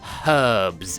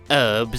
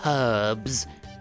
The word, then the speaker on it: herbs: forest for medicinal herbs with an H it is pronounced herbs it is not herbs it's not Epic Rap Battles of History it's herbs self-proclaimed I'm just going